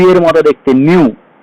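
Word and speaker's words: ν: কম্পাঙ্ককে frequency বলা হয়, যাকে নিউ দিয়ে চিহ্নিত করা হয়, এরকম লি এর মতো দেখতে, নিউ। উচ্চারণ হবে কি?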